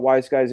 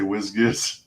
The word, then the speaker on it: Wise Guys: It's pronounced Wise Guys, but I love hearing people say Whiz-Giz.